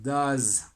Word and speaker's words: does: El does. D-O-E-S. Does. Así se pronuncia.